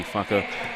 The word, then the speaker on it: whaka: Remember that we are speaking in Māori here, so when you have WHA, that is actually in the indigenous language of New Zealand, which is Te Reo Māori, is pronounced as a wha, and then a KA is a ka. So it's really a whaka, but it's WHAKA spelled,